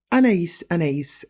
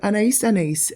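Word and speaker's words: Anaïs Anaïs: This is Anais Anais. Contrary to popular belief, it's not pronounced Anais Anais.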